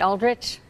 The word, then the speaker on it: Aldrich: Tierra Neubaum is live in East Austin in the Aldrich Street District with details. Good morning, Tierra. I think I said that right, Aldrich.